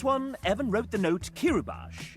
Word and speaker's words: Kiribati: This one, Evan wrote the note Kiribati is pronounced Kiribati. Kiribati, not Bati.